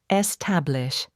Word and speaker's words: establish: Establish. Stress on middle syllable. Common mistake. Don't stress the first syllable means to create or set up something permanent.